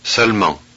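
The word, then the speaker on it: seulement: here's another word where the vowel e is not pronounced so this is salmon that's s-e-u-l-e-m-e-n-t but that middle e is not pronounced Selma 26.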